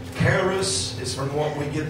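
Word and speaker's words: χάρις: grace here is a greek name that is pronounced keras is from what we get the word charismatic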